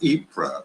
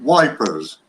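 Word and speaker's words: Ypres: there was a a battle of era which is spelled one y p s and uh and the English didn't like that name so they called it wipers and in fact there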